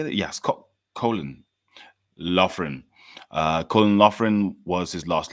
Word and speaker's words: Loughran: Yes, Colin Loughran.